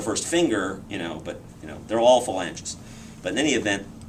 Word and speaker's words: phalange: Well, this is the first finger, but they're all phalanges. But in any event, or phalange, I guess is the proper pronunciation.